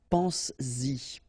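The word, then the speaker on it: penses-y: produce it orally, because you will pronounce it pense-y, pense-y, okay?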